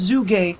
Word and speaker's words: Zhuge: a Chinese surname of its inventor and it's pronounced zoo game however that is one brilliant cover up for